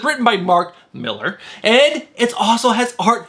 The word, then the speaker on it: Millar: That's right, Cole, I said it right, Mark Millar.